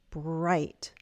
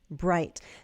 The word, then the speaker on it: bright: When we speak American English and we have T at the end, I could pronounce the T, bright, bright brass bells. Or what you might hear is that glottal stop because I have a T before a consonant sound and I'm cutting it off.